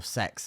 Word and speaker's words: CeX: and there wasn't really CX or sex as it is pronounced but no one does CeX um it's just I don't